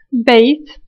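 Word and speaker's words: بيت: Hay el sonido de ba, ya, ta.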